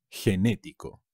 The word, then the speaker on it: genético: y ser generoso genetics genético con un acento en la segunda es genético enormes gigante